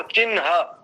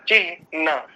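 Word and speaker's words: चिह्न: तो कई लोग जो चिन्ह बोलते हैं ना, वो चिन्ह वो अशुद्ध है, इसका शुद्ध उच्चारण होता है चिह न, ऐसा।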